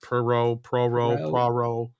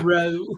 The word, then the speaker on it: Poirot: But evidently, they're not releasing A Haunting in Vegas, Kenneth Branagh's third Hercules Poirot, or how do you say it? Poirot. Yeah, Poirot.